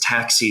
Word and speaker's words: Ptaxi: So there's a mail sorting room, and it will, it's in the background, and it says Taxi says, and it's spelled PTAXI for like a pterodactyl.